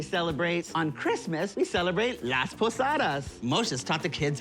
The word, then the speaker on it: Las Posadas: On Christmas, we celebrate Las Posadas.